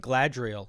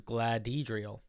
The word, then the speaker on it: Gladhedriel: I've only recently learned it wasn't Gladriel. It was Gladhedriel.